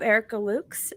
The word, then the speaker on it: Erica Lukes: Tonight, I have Erica Lukes.